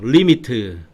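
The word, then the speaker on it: lim: 리미트.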